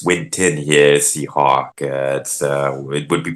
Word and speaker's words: Winton: See, it's not Winston. It's Winton.